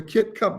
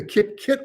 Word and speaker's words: Kip Kit: We have a little video to show you whether the Kit Cup works, or I should say the Kip Kit works. Got to pronounce it right.